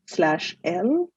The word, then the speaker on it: elle: These two words, they're pronounced as il / elle, meaning he or she.